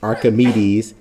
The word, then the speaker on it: Archimedes: do next but archimedes principle and again you pronounce his name archimedes it says it is the buoyant force on